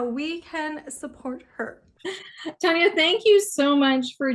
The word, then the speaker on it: Taniya: and Punjabi so like the actual way of saying my name is Taniya but I don't bother